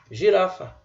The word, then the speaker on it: girafa: G, a letra G ou a letra G, é usado como se fosse J. Exemplo? Girafa. Você literalmente pronuncia o G aqui como se fosse J. Girafa.